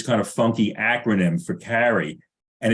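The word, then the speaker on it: Cary: because in North Carolina there's a town called Carrie okay it's spelled c-a-r-y and the reason I bring that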